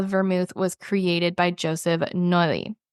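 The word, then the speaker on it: Noilly: was created by Joseph noi it's probably no I don't think you pronounce two L's when they're next to each other Joseph no let's see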